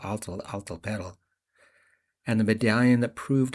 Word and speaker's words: Atl Altepetl: He’d read the article about the discovery of the underwater Aztec city of Atl Altepetl (pronounced Aht l Ahl teh pehtl) and the medallion that proved a sixteenth century Japanese fleet had reached Mexico decades before Columbus.